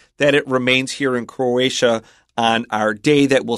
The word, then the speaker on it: Croatia: not a problem but you've got a TIA in the next country so watch out for Croatia and it used to